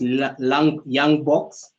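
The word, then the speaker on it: Ljung-Box: summary results and where it's written um it's pronounced young box so the young box test um usually it's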